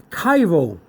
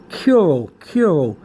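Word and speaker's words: chiro: okay then we got cairo okay so some people some people may pronounce this cure cure but it's really pronounced cairo okay okay you have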